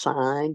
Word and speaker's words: sine: So this is pronounced sign because it's short for s i n e.